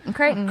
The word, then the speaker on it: Crichton: And then Michael Crichton, however I can never remember how to pronounce it. Definitely Crichton.